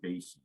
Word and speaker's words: bases: just said basis b-a-s-e-s looks an awful lot like bases all right and it actually is pronounced that way also it's just i try